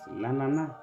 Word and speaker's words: l'ananas: There is S at the end, but this S is silent. Therefore, we now pronounce it l'ananas.